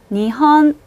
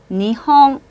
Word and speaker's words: 日本: 이런 경우에는 니은이나 이응 받침처럼 발음하는 경우가 굉장히 많은데요. 니헌 이렇게 니은처럼 발음하시는 경우도 있고요. 니헝 이렇게 이응처럼 발음하는 경우도 있습니다.